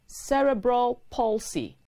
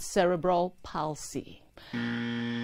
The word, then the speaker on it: cerebral palsy: expressions and their pronunciations c-e-r-e-b-r-a-l space p-a-l-s-y is pronounced cerebral palsy not cerebral palsy cerebral palsy is an early childhood disorder that